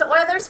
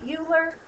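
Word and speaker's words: Euler: I would call it uler but it is actually pronounced Oiler like Houston Oilers used to be team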